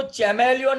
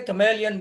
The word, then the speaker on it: chameleon: तो इसको चैमेलियन नहीं बोलते, कमेलियन बोलते हैं.